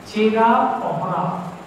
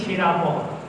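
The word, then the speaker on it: ଛେରା ପହଁରା: ভাষাচার্য সুনীতি চট্টোপাধ্যায় বলছেন চেরা পহরা, অ হ ন রয়াকার, বয়সূন্য রয়াকার, পহরা। আমরা বলি ছেঁড়া পহরা, আমাদের মতো করে উচ্চারণ করি স্বাভাবিক, ছেঁড়া পহরা।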